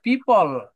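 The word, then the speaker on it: people: একটা ওয়ার্ডের শেষে যখন ই থাকে তখন এই ইটা উচ্চারণ হয় না। ঠিক আছে? জি দেখেন এই যে উপরে যে পিপল পিপল এখানে তো পিপল আপনি এল এর পরে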